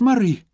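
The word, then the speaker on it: Moray: She'd copied down the letters carefully, M-O-R-A-Y, and she'd frowned. "But that's not how it's said at all," she'd pointed out. "It's Murray."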